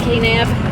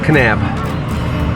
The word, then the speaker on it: Kanab: to go to dodge yeah get out of k nab how do you say it again kanab all right so let's get back on our